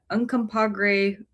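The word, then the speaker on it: Uncompahgre: there are 65,000 acres in the Uncompreag Yeah, that's how they say it, wilderness.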